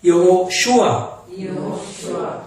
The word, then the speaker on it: 여호슈아: 따라합시다. 여호슈아. 이게 원 발음이에요. 히브리어.